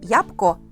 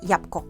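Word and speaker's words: jabłko: Кстати, в слове ябко эу не читается, просто читаем как ябко, ябко.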